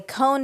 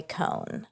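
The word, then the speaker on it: Cohn: Roy con it's awesome do you say Cohen or con I say Cohen and likely I say it wrong you know okay cuz it's c o n no it's o h n Cohen probably Cohen Ro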